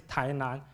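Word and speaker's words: Tainan: the other one is thaan and is the Chinese pronunciation of this Chinese word and this Chinese word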